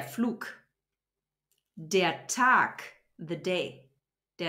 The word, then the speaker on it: Flug: about is G so if there's a g at the end of a syllable or a word it turns into a k Dia fluke the flight so we don't say the flug we say de fluke the attack the day